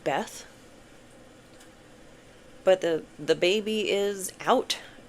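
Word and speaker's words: Beith: But the birch tree, I think it's just pronounced Beth.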